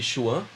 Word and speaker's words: Chuan: é caminho, Chi é energia, e Chuan, o Chuen, né, pela pronúncia, é universo.